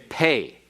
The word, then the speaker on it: pe: p as impact but if it is without the doggish it is pronounced like f or like pH as in fat or as in phone if you want to